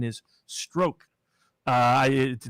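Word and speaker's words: Strzok: say that's p apparently i'm told that the pronunciation is stroke uh i it spelled like troubles but i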